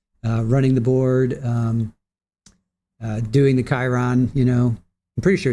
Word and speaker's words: Chiron: How do you pronounce? It is Chiron. Okay. Chiron.